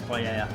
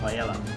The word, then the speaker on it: paella: and ready to finish by the way why we pronounce paa paa not Pella but you can say Pella so the